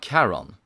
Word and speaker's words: Charon: He's thinking of Charon, with a K.